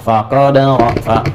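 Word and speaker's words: فَقَدَرَ: Faqadara. Tasydidnya hilang di sini.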